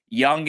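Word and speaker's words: Jung: be All-Stars who's that third base uh Josh Young the third baseman for Texas he's like a rookie oh yeah yeah it's spelled junk but it's pronounced young um do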